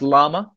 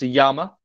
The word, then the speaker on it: llama: And indeed, in basic Spanish, double L is a Y sound. For instance, it's in Spanish, it's not pronounced llama, it's pronounced llama.